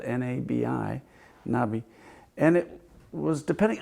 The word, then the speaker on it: Nabi: Hebrew tradition the Hebrew word for Prophet was Nabi it's spelled n-a-b-i Nabi and it was depending on the context